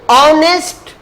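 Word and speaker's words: honest: देखिए ऑनेस्ट, ऑनेस्ट लिखा हुआ एच से, लिखा हुआ किससे?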